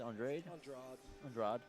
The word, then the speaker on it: Andrade: Andrade. That's how one Elisech, of the UFC 52-43. fighters pronounces it.